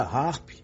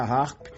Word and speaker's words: HAARP: o título do livro A palavra harp e Harpa no inglês americano possuem pronúncias similares assim quando se fala